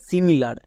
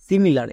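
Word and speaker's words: similar: আছে একই রকম ভাবে সিমিলার সিমিলার এখানেও দেখো ছয় লেটারের বেশি আছে মানে সাতটি লেটার আছে তাই জন্য আই এর জন্য হস্তিকার হবে এস আই এম আই সিমি এল এ আর লার সিমিলার তাহলে আশা করছি বুঝতে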